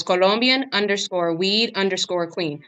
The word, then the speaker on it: Colombia: tell them ver it's Colombian weed Queen so it's Colombian uncore weed uncore Queen so it's not not like how Americans saying Colombia no no it's Colombia so Colombian weed Queen